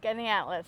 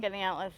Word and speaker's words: Skaneateles: Because when we were driving through, we drove through, how did you pronounce that town? Skaneateles. So that's it's a village, actually. Okay. Skaneateles, the village of Skaneateles.